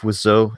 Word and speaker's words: Wiseau: But I believe Wiseau is exactly how you say it.